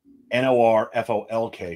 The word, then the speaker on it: Norfolk: of a river but they spelled it n-o-r-f-o-l-k for some god-awful reason but it's Norfolk there was an old